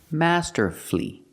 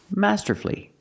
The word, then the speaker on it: masterfully: Master flee Master flee put the stress on the first and third syllable masterfully masterfully if you do something